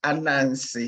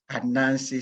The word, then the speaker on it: Anansesem: unknown system coaching model maybe you want to practice how to say it it's a Nancy so it's very easy the way it is written and Nancy some coaching